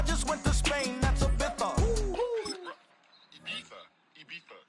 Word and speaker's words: Ibiza: That's Ibiza. Ibiza. Ibiza. Yeah, it's pronounced Ibiza actually. What's the difference then? Ibiza, Ibiza. You won't see me in either.